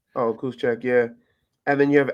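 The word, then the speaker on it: Juszczyk: how do you say his name ju Kyle kusek oh kusek yeah and then you have Alec inold um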